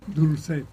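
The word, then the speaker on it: Dolcet: tener con nosotros a Alberto Grau Dolchet, así se pronuncia, Dulcet.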